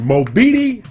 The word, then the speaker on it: Mobeetie: This is Not Les Beatty, but Mobeetie. Mobeetie. Mobeetie. It's Amarillo. Okay. So would you like to know how Mobeetie got his name?